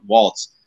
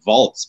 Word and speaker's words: Waltz: time his father augustin waltz i i want to i almost at vaults because i'm so used to the german pronunciation it's a very german name there father but um